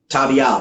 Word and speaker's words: Tabiel: Tabial, that's how you pronounce it.